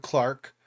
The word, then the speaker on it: clerk: matthews test subjects retired clark winsford cheshire i said clark instead of clerk because that's how you say it in british english i'm not doing the